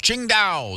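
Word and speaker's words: Tsingtao: Tuesday October the 24th Ching da The Brewery from China it's spelled TS i n g t a o if anyone's going what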